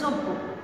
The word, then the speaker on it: যোগ্য: একইভাবে যোগ্য, তোমরা অনেকে যজ্ঞ বলো, এটার উচ্চারণ হবে যোগ্য, যোগ্য, কারণ জ ছিল এবং জয়ের পর আমার কি এসছে? জয়, তাহলে আমার জয়ের সঙ্গে একটি অকার ছিল, এই অকারটা আমার কি হয়ে গেল? ওকার দিয়ে উচ্চারণ করলাম।